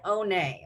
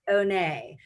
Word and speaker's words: Honne: her name is Oh nay okay so it's H o N and E but it's pronounced ohne so if like Lisa Bonet comes to mind is also beautiful